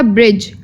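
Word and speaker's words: bridge: है वह साइलेंट है नेक्स्ट है ब्रिज बी आर आई डी जी ई ब्रिज तो ब्रिज जो वर्ड है इसमें डी साइलेंट है ठीक है ब्रिज में क्या साइलेंट है डी तो डी का जो वर्ड है हम लोग यह प्रोनाउंस नहीं करेंगे बट स्पेलिंग्स में यह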